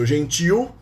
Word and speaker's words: gentil: Notice that gentil is accented. The stressed syllable is the last one. The stress, it is stressed in the end. So gentil, gentis.